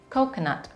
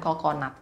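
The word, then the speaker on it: coconut: sebagainya dalam bahasa Inggris kelapa pengucapannya kau kena kau kena jadi seolah-olah pada syllable pertama dan kedua walaupun penulisannya sama tapi cara bacanya sedikit berbeda kau kenapa bukan coconat kau kena Hai kelapa Oke next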